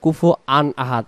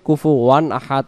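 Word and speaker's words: كُفُوًا أَحَدٌ: অনেকে আবার আমরা পড়ি কুফু আন আহাদ। কুফু আন আহাদ পড়লে এখানে হামজাতে দুই জবর এখানে উচ্চারণ হয়ে যায়। এজন্য এটাকে আমরা খেয়াল রাখবো কুফু ওয়ান আহাদ আমরা পড়বো।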